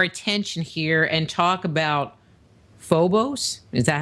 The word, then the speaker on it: Phobos: to turn our attention here and talk about Phobos is that how you say it you do pronounce it Phobos yes which is a satellite or a moon